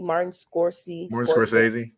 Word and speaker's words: Martin Scorsese: Martin Scorsese.